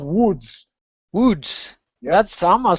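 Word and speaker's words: Łódź: with the slash do it is pronounced with a w so it's not loads which would amuse me to no end a city called loathe haha yeah but it's called woods foods that sama sounds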